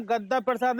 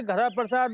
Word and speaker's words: गद्दा प्रसाद: देखिए, हमारा नाम गद्दा प्रसाद है, गधा प्रसाद नहीं। कृपया कर नाम का उच्चारण सही करें।